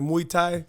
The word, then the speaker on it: Muay Thai: Next time I randomly check in on the gram, I see you doing, I can't even pronounce, like Muay Thai.